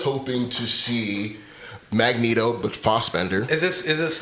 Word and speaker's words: Fassbender: is it Fassbender or is it Fassbender? I say Fassbender. That's the first time I've heard it pronounced like that. Okay, maybe I'm wrong. I thought it was Fassbender. I think Americans pronounce it Fass, but I think I've heard him say Fassbender.